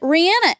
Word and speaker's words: Rihanna: She pronounces it Rihanna, and that is...